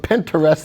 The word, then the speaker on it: Pinterest: As you said, Pinterest. Here, we call it Pinterest. So a little different. But Pinterest is the right way to say it.